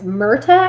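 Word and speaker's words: Myrta: a woman named mark it's murta i think is how you say it and he was 25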